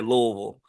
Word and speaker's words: Louisville: or Louisville you say Louisville like you got to kind of like blur all the word blur the whole word together and kind of L Louisville it's got to come